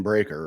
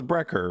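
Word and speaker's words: Breakker: You know, you know there's an A in Breaker, right? Oh, is it Breaker? I thought it was Breer or something like that. I thought they spelled it weirdly. No. Okay. It's breaker.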